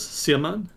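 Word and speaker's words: Xiamen: can look so the city's name was siemen and it's spelled x-i-a-m-e-m so you can just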